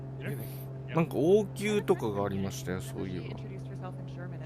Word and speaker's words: Munich: What's the English pronunciation? こらあたりですよ。 Munich? Yeah. Munich.